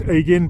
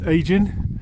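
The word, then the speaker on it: Aiggin: Could be pronounced Aigin, but I understand locally it's pronounced Aigin.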